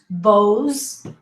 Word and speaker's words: Bose: polo banana banana republic bose z sound bose lint don't pronounce the